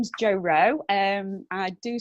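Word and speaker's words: Jo Roe: do you do okay so my name is Jo row and I do spell it like a bloke my surnames are OE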